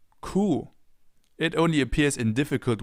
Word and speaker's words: Kuh: It's pronounced the same way as the German word for the animal cow. Kuh. Kuh.